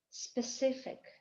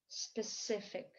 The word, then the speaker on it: specific: Specific. Ударение падает на второй слог. Specific.